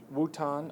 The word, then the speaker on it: Wuhan: They now, in the province of Wuhan, I believe is how it's pronounced, they now are seeing that the patients are now stabilizing.